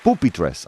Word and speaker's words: pupitres: Pupitres. Am I pronouncing that correctly? No. Go on, tell me. Pupitres. Pupitres. Yes. There's no accent on the I. The elves didn't give me an accent.